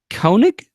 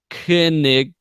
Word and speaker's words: Koenig: The OE sound escaped me. It's just all it is. I've always pronounced that Koenig, and no one has ever corrected me on it. Koenig. Suddenly it's a U sound.